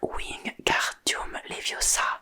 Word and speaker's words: Wingardium Leviosa: « Il faut dire Wingardium Leviosa en accentuant bien le gar.